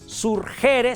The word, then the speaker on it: surgere: Surgere se escribe y se pronuncia surgere.